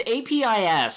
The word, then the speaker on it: Apis: It's APIS, but as I have demonstrated on the show before, I'm very bad at pronunciation. It's Apis, right? Because it sounds like One Piece.